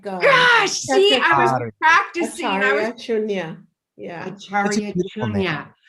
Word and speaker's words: Acharya: Ashari. It's Acharya Cha, as in like. Gosh, see, I was practicing. Acharya Shunya.